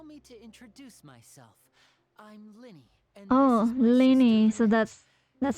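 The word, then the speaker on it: Lyney: any concern allow me to introduce myself I'm Linny and Lenny so that's that's how you pronounce it from abro nice to meet you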